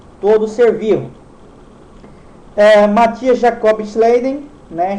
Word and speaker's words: Schleiden: Matthias Jacob Schleiden, né, Schleiden, né, a pronúncia aí, era um botânico alemão, e Theodor